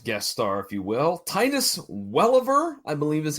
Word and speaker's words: Welliver: Well, our other main event guest star, if you will, Titus Welliver, I believe is how it's pronounced.